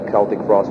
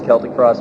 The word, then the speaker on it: Celtic Frost: But you take more risk as well, but then again, with Celtic Frost, we knew that there was genuine interest in